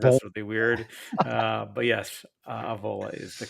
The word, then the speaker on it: Avola: It is pronounced Avola, correct?